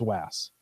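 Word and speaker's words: WAAS: support the FAs wide area augmentation system typically pronounced vas the Raytheon develop payload is a key element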